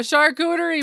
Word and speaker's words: charcuterie: Yes, you named it a charcuterie board. Did I pronounce it right?